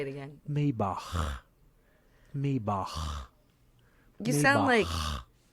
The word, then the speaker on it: Maybach: Not my back. No, Maybach. Maybach. Maybach. Maybach. Okay. My Maybach. German. Like you got something in the back of your throat.